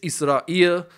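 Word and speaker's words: إسرائيل: In Israel, it's Israel with the emphasis on the first syllable, and in Arabic it's Israel, which places the emphasis on the last.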